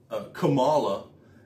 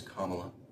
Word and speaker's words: Kamala: as they always do, Kamala. And I'm just like, her name's Kamala, not Kamala.